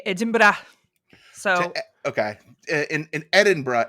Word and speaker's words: Edinburgh: It's spelled Edinburg, but in Scotland they say Edinburgh.